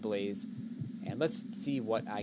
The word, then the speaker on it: l3layze: It is l3layze, pronounced Blaze.